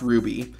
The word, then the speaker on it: RWBY: influence fantasy series RWBY which I just realized is supposed to be pronounced Ruby anyways in the movie